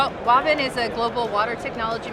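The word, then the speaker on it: Wavin: it so he created walvin which stands for water and vinyl oh okay and so ever since then it's probably pronounced right that is how it's pronounced are water and vinyl water and final yeah and ever since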